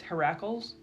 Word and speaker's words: Heracles: Heracles?